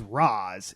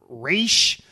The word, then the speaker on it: Ra's al Ghul: about this once before it is Roz it is not race or any of that other [